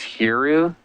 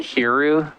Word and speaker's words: Hero: It's Hiru. Say it again? Hiru. Hiru. French is like Eru, so it's, Oh, it's a lot of interpretation.